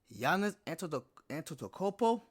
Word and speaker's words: Giannis Antetokounmpo: the Greek freak, Giannis Antetokounmpo.